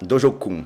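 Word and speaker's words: 道場訓: Sensei, então repete para nós aí, como se você estivesse aí no seu dojo, como que deve se pronunciar... Dojokan? Dojo-kun.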